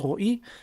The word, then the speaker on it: Roi: In Hebrew, it's pronounced Roy.